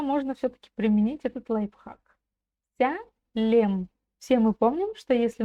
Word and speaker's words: Сәлем: Сялем. Все мы помним, что если написана буква то и читается буква Вот так легко и просто.